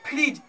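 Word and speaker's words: fridge: फ्रिज, यहाँ पे फ्रिज है, इसे फ्रिज से नहीं पढ़ेंगे, डी का उच्चारण करवे नहीं करेंगे, क्योंकि जी से पहले डी है।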